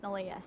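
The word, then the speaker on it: Neleh: and so it spelled any leh but it's pronounced nalia so yeah that's a nice little twist i'm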